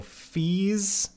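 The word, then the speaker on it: Fils: american director he whatever i see long e as in beads so fees fees when he was doing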